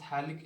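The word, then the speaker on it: phthalic: यहाँ पे लिखता हूँ, PH साइलेंट रहता है, इसको कहते हैं हम थैलिक एसिड।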